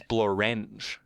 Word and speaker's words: Blorenge: and theirs is Blorenge. Yeah, you're not pronouncing it correctly then.